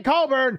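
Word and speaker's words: Cockburn: morning writing about kofi coburn and we're gonna say colburn because if we don't say it right it sounds pretty bad but anyways look what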